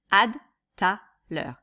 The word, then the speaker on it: à tout à l'heure: à tout à l'heure on dirait rarement à tout à l'heure ce qu'on dit en fait c'est à tout à l'heure ok donc on prononce pas toutes les lettres toutes les syllabes on dit juste ad taller à tout à l'heure